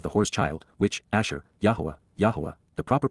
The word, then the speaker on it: Yahowah: the gestation of the horse child which Asher yahwah yah the proper pronunciation of the name of eloah God as